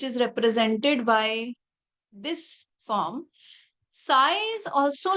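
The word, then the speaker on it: psi: known as s p si p is silent a Greek symbol s it's a function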